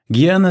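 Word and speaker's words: jñāna: o vocábulo Guana sabedoria Jana observou ele é como os estudiosos geralmente o grafam não sei por não se pron Anana mas de que outro modo você o pronunciaria se só o ver transliterado assim Eis um exemplo simples do pedantismo acadêmico Guiana seria mais correto embora no sânscrito puro exista um som nasal que os estudiosos tentaram futilmente captar com seu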